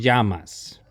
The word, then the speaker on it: llamas: when you're pronouncing it the double l sound in spanish makes kind of like a ya ya almost like a y sound in english so komo te llamas when somebody asks you llamas you'll respond with the